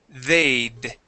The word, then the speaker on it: they'd: Okay, we're gonna say they'd.